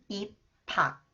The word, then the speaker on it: 입학: Okay, when 히읗 comes after the final consonant 비읍, it combines with 히읗. It is read P sound. 입학, 입학.